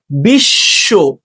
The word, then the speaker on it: বিশ্ব: 2 নম্বর নিয়মটা দেখো, শব্দের মধ্যে বা শেষে, আবার দেখো মধ্যে বা শেষে বফলা যুক্ত থাকলে যুক্ত ব্যঞ্জনের দ্বিত্ব হয়। যুক্ত ব্যঞ্জনের দ্বিত্ব হয়। যেমন বিশ্ব, বিদ্যান।